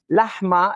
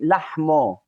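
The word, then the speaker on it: לחמא: Lahma, instead of saying, we say lahmo. Lahmo, lahma. Lamed aleph in Hebrew, it's lo and not la. So we say it lo.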